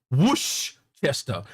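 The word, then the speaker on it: Worcester: It is spelled Warchester but it's pronounced Woo Chester.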